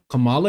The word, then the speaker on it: Kamala: I think it's like comma. So Kamala Harris, not Kamala Harris, you know.